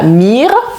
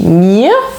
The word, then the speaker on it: mir: Maintenant, les mots en IR ou en IER, par exemple, mir, dir, je ne dis pas mir ou bien dire, mais je dis mir, oui, un petit A prononcé à la fin, mir, dir, wir, ihr,